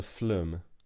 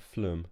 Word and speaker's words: phloem: a xylophone xylem and this is called the flume slightly odd word at the flume is how I say it hopefully that's about pronunciation xylem and phloem and they both have